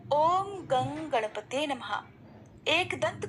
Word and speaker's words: गं: गण के आदि अर्थात ग कर पहले उच्चारण करें, उसके बाद वर्णों के आदि अर्थात अ उच्चारण करें, उसके बाद अनुस्वार उच्चारित होता है। इस प्रकार अर्धचंद्र से सुशोभित गंग ओंकार से अवरुद्ध होने पर आपके बीज मंत्र का स्वरूप ओम गंग है।